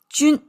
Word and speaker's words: 军: Pronounced as jun.